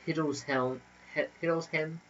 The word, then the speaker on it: Hildesheim: of the Cathedral of Hildesheim in Germany? Hildesheim. That place. Probably help. Hildesheim. Yeah, that one. Hildesheim. Heim, H-E-I-M is pronounced Heim.